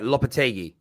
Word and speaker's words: Lopetegui: Do you feel with I want to say Denver, Lopetegui is how you pronounce it?